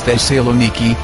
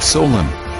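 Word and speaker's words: Thessaloniki: by the names they were derived it is the saloniki not Solen from Alexander to my grandfather my ancestors have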